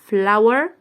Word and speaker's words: flower: طب هنا ال O وال W نطقناهم آو، يبقى ال O وال W نطقناهم آو، يبقى فلاو، flower، flower.